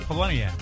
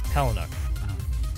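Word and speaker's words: Palahniuk: Because everyone thinks that they have it right. Poloniak. Yeah, it's. I believe, and I heard him say his name. I think a couple times. I believe it's Palinuk.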